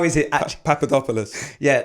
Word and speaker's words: Papadopoulos: your surname let me know maybe go Dean Papadopoulos yeah it's good it's good how is it Papadopoulos yeah not quite the same ringers as these